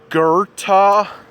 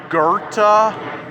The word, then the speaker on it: Goethe: you say it again it's German pronounced Goethe that's how you say it why does it put